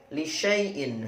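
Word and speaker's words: لشايء: Lisyaiin. Hati-hati, 'sya' dibaca pendek.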